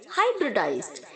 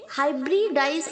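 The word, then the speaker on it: hybridize: okay ह्यूमरोनाइजेज हमो joining हाइब्रिडाइज्ड यहां पर जो बच्चों आर के आगे आई है उसे हम 1/2 ए की तरफ नोस करेंगे ओके हाइब्रिड डिक नहीं बोलेंगे आप इसे आप बोलेंगे हाइब्रिडाइज्ड ओके हाइब्रिडाइज्ड संकरण करना सन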